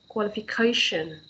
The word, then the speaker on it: qualification: For example, when we have the underline here, it means the stress is on that. Okay, qualification.